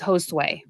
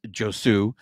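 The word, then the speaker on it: Josué: And so it is Josue. So good job, Juan. Thank you. So, so a big thank you to Tim Rogers there, because on the broadcast, they were pronouncing it as Josue.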